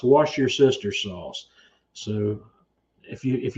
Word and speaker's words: Worcestershire: pronounce that now it's wash your sister sauce so if you if you're ever curious about how that's pronounced it's just wash your sister sauce so yeah Levi's having